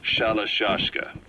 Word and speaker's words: Shalashashka: Someone must have known about that, because somewhere along the line, Shashka got stuck on the end of Sharashka. The guerrillas were using the name amongst themselves, and by the time I got to hearing about it, pronunciation had wound up as Shalashashka.